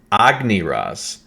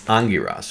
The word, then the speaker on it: Angiras: going to call him Angiras. So notice how it says Angiras. Notice how it's changed over. So it's not Agniras, it's Angiras, okay?